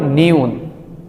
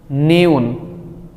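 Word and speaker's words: 니은: না এটাকে কোরিয়ানরা বলে নিউন নিউন নিউন এইটার মূল উচ্চারণ হবে ন তারপর আমরা যেটা দেখতে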